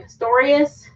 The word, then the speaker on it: Pistorius: Pistorius.